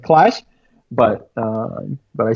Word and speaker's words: Qlash: it would be easier to just know that Q should be pronounced like like like like I see like clash but but I said like I said I